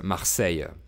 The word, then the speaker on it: Marseille: À chaque fois que je dis Marseille, je le dis avec l'accent marseillais, avec le E final prononcé. Le E final sans accent est muet en français, mais les Marseillais le prononcent. Donc ils disent Marseille.